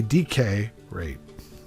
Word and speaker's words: decay rate: decay rate or a decay rate put the emphasis on the first word so it has decay